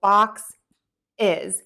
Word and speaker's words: boxes: So because we end in this S sound, we're going to add an is to the word to make it plural. So bɔksɪz, and then that adds a syllable, bɔksɪz.